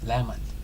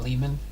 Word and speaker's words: Lemon: Lemon. Okay, kind of like the fruit then. Lemon, huh? Not Lehman, but lemon. Like the fruit.